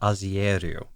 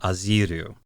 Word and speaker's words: Azieru: I have been saying Alpha Azieru because of that IE in the way it's spelled in English. In the Japanese, it's very clearly Ajiru. So it should be Alpha Aziru.